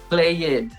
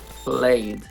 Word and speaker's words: played: a gente não fala played a gente fala played sem pronunciar aquele e mas às vezes a